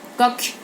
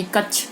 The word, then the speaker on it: कक्ष: अब देखिए शुद्ध उच्चारण और अशुद्ध उच्चारण, अगर क्षत्रिय लिखते हो तो सही, क्षत्रिय बोलते हो तो सही, अक्षत्रिय बोलते हो तो गलत। पत्र सही, पतर गलत। कक्ष सही, कच्छ गलत, मंत्र सही, मंतर गलत। अब आगे देखिए, व्यंजनों के